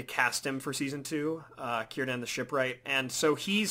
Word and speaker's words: Círdan: And what about Cedran? I'm probably saying it wrong. Oh, Círdan. Sorry, Círdan.